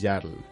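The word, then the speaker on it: Jarl: Está la palabra noble que si no quiero es Yarl. Es, o sea, se escribe como J A R L.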